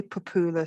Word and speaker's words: Popoola: And there's the Nigerian, specifically Yoruba way of pronouncing it. And then there's the English way of pronouncing it. And I typically pronounce it in the English way, except if I go to Nigeria, it makes life easy for me to do my best to pronounce it in the Nigerian way. But going with the English way, Popoola, Popoola.